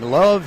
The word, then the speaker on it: LOVB: future of the sport introducing love Houston that's lovb Houston with a silent B one of six teams